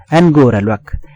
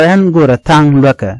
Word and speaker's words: angora luak: Angora luak. Angora. Some help don't allow angora tang luaka. But the right way to say it would angora luak.